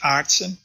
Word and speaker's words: Aartsen: this is a my family name is pronounced artson so you're really very close